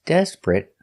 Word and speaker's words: desperate: t desperate desperate desperate two syllables the stress is on the first syllable desperate not three syllables desperate but two syllables desperate and the T at the end is a stop T desperate not desperate but